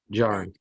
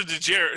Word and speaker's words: Djarin: So it's the last name that has the DJ. The first name Din has just the D.